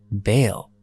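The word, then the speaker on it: Basel: other quarters he chose the Swiss town of Basil or is pronounced Baal here he wrote his famous work quote the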